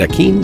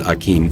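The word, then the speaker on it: Aquin: I'm just going to pronounce it Akin for my gameplay, because I think that Latino pronunciation sounds really awesome. I'd imagine Portuguese might have a similar pronunciation of that name as well.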